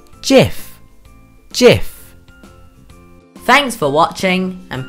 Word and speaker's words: GIF: internet for short animations is it pronounced with a hard G or a soft G it is pronounced with a soft G Jeff Jeff thanks for watching